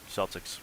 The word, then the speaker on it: Celtics: um Celtics one um Celtics Celtics with with a soft C oh gotcha yeah um